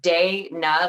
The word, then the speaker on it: Dayna: I get Dana, but what's weird is it's two syllables. It's Dayna, like it looks like Dana, and to me, Dana, which is the other spelling, looks like Danya or like Dana.